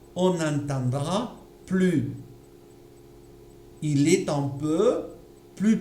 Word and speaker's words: plus: Je n'entends pas le S. Pourquoi? Je suis du verbe suivre, pas du verbe être. Je suis la règle de la consonne. J'ai donc une consonne. Je ne peux pas prononcer le S. On entendra plus.